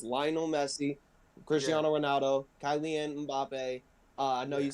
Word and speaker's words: Cristiano: Lionel Messi, like Cristiano Ronaldo.